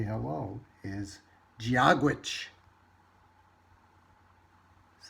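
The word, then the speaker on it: Dia duit: It says it's not Dadweet, it's Giagwitch, or hello from Ireland. So apparently, in the language of Ireland, the way you say hello is Giagwitch.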